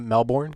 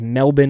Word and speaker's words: Melbourne: was Melbourne but it's Melbourne I was about Mel born no it's Melbourne Melbourne that's the correct way to say it is Melbourne Australia so the are and everything else is